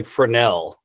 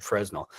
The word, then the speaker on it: Fresnel: already talked about F you say frenel Danny I always said fresnel so uh that's probably like a French word uh forell versus pancake lens silent s yeah yeah okay very